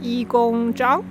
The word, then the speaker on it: Yigong Zhang: My Chinese name pronounced as Yi Gong Zhang.